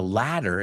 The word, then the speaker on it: latter: Now, the latter is later con una T de más. La segunda opción. Pero como americanos pronunciamos esa T como D, suena como escalera.